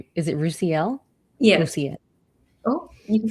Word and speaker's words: Roosiel: I would say, is it Roosiel? Yes. Roosiel. Oh, you can say both. Just my name does not have a hard S. It's a soft S. Roosiel.